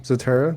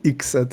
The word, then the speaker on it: Zatara: Sorry, I'm used to listening on the side here, but in terms of introductions, yeah, I'm Zatara. That's how you pronounce it. Not Ixetera or whatever.